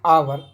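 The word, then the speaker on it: hour: बट एन आवर, कि इन चीज़ों में तो ए आ गया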